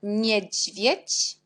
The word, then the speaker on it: niedźwiedź: Après, jet, avec l'accent, on prononce dzi, jak niedźwiedź, niedźwiedź.